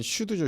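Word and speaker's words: SCHD: 가장 유명했던 거는 슈드죠. 슈드. 요거 슈드라고 읽더라고요.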